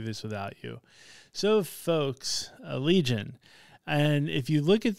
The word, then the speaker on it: Allegaeon: on YouTube that they actually do call it Allegaeon. And I will say it was a video of like how to pronounce band names.